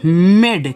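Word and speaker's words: made: मात्रा के लिए हुआ लेकिन अगर लास्ट में ए दिया होता है तो उसका उच्चारण होता नहीं है वह आपका साइलेंट रहेगा क्या रहेगा बच्चों साइलेंट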